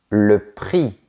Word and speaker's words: prix: X, le prix.